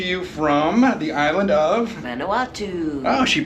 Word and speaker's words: Vanuatu: We're coming to you from the island of Vanuatu. Oh, she pronounced it right.